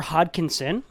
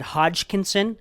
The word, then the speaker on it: Hodkinson: um i apologize i i pronounced a g when i when i met him i believe i said hodgkinson and that is not true and i also mistakenly